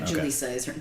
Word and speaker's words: Julisa: Julisa. J u l i sa. Okay. Um but in Spanish a j is a ha noise.